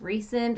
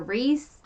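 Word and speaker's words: Rhysand: a new character we meet it looks like rice and but the book thing says it's pronounced the book prince nation dress is pronounced recent or Reese so he's actually her Savior the beautiful faith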